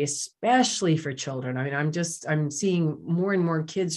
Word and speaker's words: Aim: And so the bija mantra there is I'm, you can spell it A-I-M or A-Y-M, I'm.